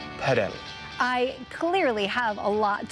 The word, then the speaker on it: padel: All of the pros say padel. A lot of European countries have always said paddle. Some areas in France and some in other kind of European companies say padel.